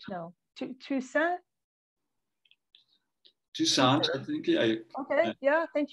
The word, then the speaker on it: Toussaint: Waiting at the Station, with music by Alain Toussaint. I don't know how to pronounce, am I pronouncing that right? No. Toussaint?